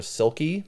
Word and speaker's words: silkie: know ancient oral stories it might be spelled or pronounced selchi s-e-l-c-h-i-e or silky s-i-l-k-i-e and what I found